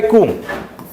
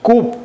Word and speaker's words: coup: do we mean by cool okay although it is written as c-o-u-p Coupe but like we pronounce it as cool okay p is silent over here Q means let's say